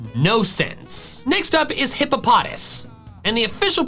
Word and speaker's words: Hippopotas: This hippo Pokemon's name is hippopotamus with the M and U removed. Hippopotamus, hippopotas. It's that simple. Yet despite that, the official pronunciation decides to do gymnastics with emphasis and call it hippopotas.